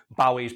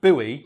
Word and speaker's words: Bowie: didn't know is that in America Bowie's pronounced Bowie well he assumed that he was pronounced Bowie because soon that's the Scottish way he was white he